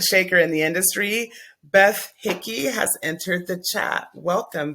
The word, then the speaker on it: Hickey: It's pronounced yes, Hickey.